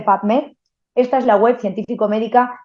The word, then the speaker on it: PubMed: Tal cual se escribe P-U-B, publicaciones, las tres primeras letras de la palabra publicaciones, M-E-D, médicas, las tres primeras letras de la palabra médicas, PubMed, se dice PubMed.